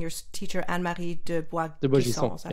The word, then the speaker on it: Boisgisson: De Boisgisson. Is that how you say her name? Boisgisson.